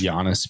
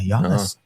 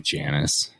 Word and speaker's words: Giannis: Yeah, Giannis kind of sounds more of it. You think so? Yeah. Huh. Yeah, I wouldn't I necessarily consider I always want to call him Janice. Janice. Well, that's how it's spelled.